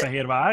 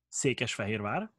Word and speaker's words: Székesfehérvár: And can you pronounce it? Székesfehérvár is the name. Say it again. Székesfehérvár.